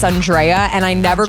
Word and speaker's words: Andrea: to literally not okay everyone pronounces my name Andrea but it's Andrea and I never correct